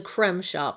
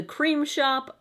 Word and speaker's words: The Crème Shop: the first e but on their website their tagline is the creme de la creme of beauty and you say that creme and not cream so I'm going with